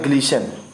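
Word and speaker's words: glisten: अब है ग्लीशन, इसमें टी आपका साइलेंट है, बता रहा हूँ। टी लेटर इसमें साइलेंट है सब में।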